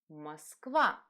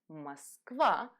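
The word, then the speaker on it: Москва: another word hmm ah Moskva and as you notice or is not stressed so we're going to simplify pronunciation Moskva and Moskva is a word that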